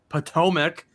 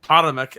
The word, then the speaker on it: Potomac: the at tbt potomac or um potamac as john called it before i um quickly let him know exactly how you say it hot potomac atomic bomb potomac maryland right on the potomac river is where we will find tpc potomac yes potomac potomac bomb but paw mac no it's plateau well actually